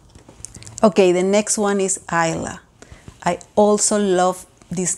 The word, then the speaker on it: Isla: It means island. And actually in Spanish, it's pronounced Isla. And again, that's one of the reasons we didn't choose it, because of the pronunciation is different in both languages.